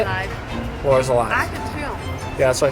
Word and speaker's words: Arc de Triomphe: Arc de Triomphe.